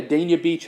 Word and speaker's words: Dania Beach: We're coming to, how do you pronounce it, Dania Beach. Yeah, Dania Beach, actually.